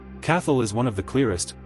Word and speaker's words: Cathal: Number one, Cathal. Pronounced k a how, sometimes you'll hear it closer to k a h l, depending on the speaker. Cathal is one of the